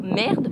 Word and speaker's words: merde: Donc, admettons un juron à un pied comme Chris ou merde, parce qu'on prononce pas le E, ben ça c'est une petite frustration.